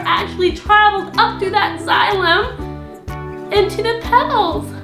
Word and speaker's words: xylem: Upstream from a hollow tube that's called a xylm how do you how do you spell that oh yeah x y l e m and that xylm allows the water to travel Upstream up to